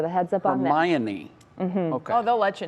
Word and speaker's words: Hermione: It is not pronounced how I said it. I will not say it again, but it is Hermione.